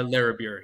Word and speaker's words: Larrabure: Is it Larrabure? Is that how you La Larrabure, yes.